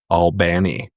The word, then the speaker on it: Albany: Not to be And confused with a city that has the same spelling in Georgia, but is pronounced Albany.